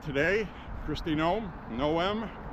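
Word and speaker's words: Noem: Kirsty Gnome said today, Christine Gnome, Noom, that's how our name is pronounced, not Gnome, it's no maid that these people should be arrested.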